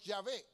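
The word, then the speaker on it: Yahvé: el nombre como jehová otras personas lo conocen y dicen que la mejor pronunciación es llave dice el judío dice que la mejor pronunciación o lo más cercano al nombre de dios es llave es lo más cercano a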